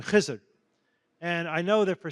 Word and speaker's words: Khizr: And the reason I make the distinction is not only to point out that it's important to pronounce it Khizr or Khidr if you like Arabic, but that Khizr is